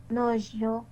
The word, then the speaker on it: nuageux: C'est la nuageux. Dans le deuxième mot, il y a 3 syllabes.